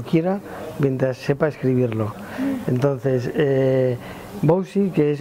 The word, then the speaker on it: Wouzee: del mundo que dejamos que la gente lo pronuncie como quiera mientras sepa escribirlo entonces bowsy que es w o uze es viene de